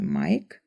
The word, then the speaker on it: Mike: Ale taky například cizí jméno Mike, které se píše s E na konci, ale vyslovujeme Mike.